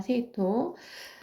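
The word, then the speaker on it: 生徒: 세이토. 자, 우리 학생하면 각세이고 이거는 생도라고 읽어서 세이토라고 발음합니다.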